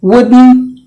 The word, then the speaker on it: wouldn't: And then similarly words like wouldn't, T is gone because it is silent.